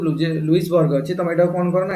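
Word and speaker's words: Louisbourg: हबो ना जे गोटे जगह थिला जोटा होची लाउजेबर्ग हैला जोटा कि बर्तमान कनाडा रो गोटे एरिया हेते बेला एटा फ्रेंच पाकर थिला LOUS LOU लाउजेबर्ग LOUIS बोलते लाउजबर्ग BERG देखि दो स्पेलिंग डेटा बोलते लुइसबर्ग LOUIS ना ये होते लुइसबर्ग है ना लुइसबर्ग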